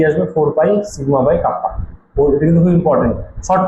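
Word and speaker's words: κ: কে ঠিক না, একে আমরা প্রোনাউন্স করবো কাপ্পা। যেমন আলফা বিটা থিটা ডেল্টা, সেরকম হচ্ছে কাপ্পা।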